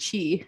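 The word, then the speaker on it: qi: website called love and chi and that's spelled q-i for chi love and chi and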